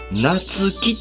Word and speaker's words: 夏輝: この夏の輝きと書いて、夏木と読みます。